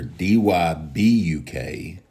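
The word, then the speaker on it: Dybbuk: Pronounced the same way, Dybuk. Dybuk, yes, ma'am. Okay. Yeah, it's pronounced as if you were spelling it Dybek. So, Okay. but instead of the E, there's a U.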